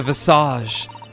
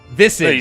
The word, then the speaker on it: visage: Visage, No, I know. No, you said it right the first time. No, you can say visage. I've always known it as visage. I said visage this time, though.